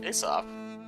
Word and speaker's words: Aesop: Aesop. Like Aesop. Aesop's fables. Correct. Is Yeah. it Aesop? Aesop? I always said There are Aesop. many pronunciations, Aesop being the... Most favored.